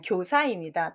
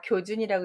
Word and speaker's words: 교사: 아니, 교사입니다. 다 교준이라고 읽지 않으셨어요? 이게 들어간 보통 준발음인데 부추길 사자입니다.